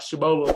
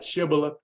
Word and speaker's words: Shibboleth: on that word shibboleth not shabola but shibala and um when uh we